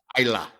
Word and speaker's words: Islay: I call it Islay barrels. Yeah. Okay. It's Isla. It's I spelled. did not know they were. It's spelled Islay, but it's pronounced Isla.